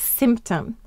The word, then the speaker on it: symptom: The Y is saying the I sound, and it's acting as a vowel.